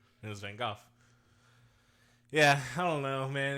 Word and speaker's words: van Gogh: people there's like so many different ways to pronounce van Gogh van Gogh which is apparently the correct way but how